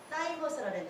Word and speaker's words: thymus: 근데 그 암덩어리를 이길 수 있는 T 면역세포가 우리 몸에서 만들어지는데 이 T세포를 사이머스, 발음은 사이머스라는 데서 THYMUS, 사이머스, 흉선, 여기 흉선, 흉부, 여기서 만들어진대요.